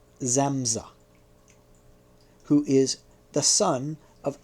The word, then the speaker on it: Samsa: The hero of the Metamorphosis is Gregor Samsa, pronounced Zamza, who is the son